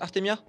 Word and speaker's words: Artemia: Ton pseudo, il se prononce Artemia. C'est Artemia ou Mia, comme tu veux.